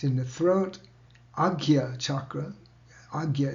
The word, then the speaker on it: Agya: Agya chakra, Agya is a proper pronunciation, is in between the 2 eyes.